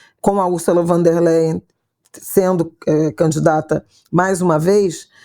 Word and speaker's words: von der Leyen: centro com a Ursula von der Meyer, a Isabela que tinha que pronunciar, porque ela é alemã, né? Ursula von der Meyer, é isso? Leyen. Não tem M. Von der Leyen, Embora o campo, né,